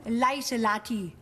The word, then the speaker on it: Lieselotte: Nun heißen Sie, Lieselotte. Wie hat man das in Amerika ausgesprochen? Lieselotti. Lieselotti.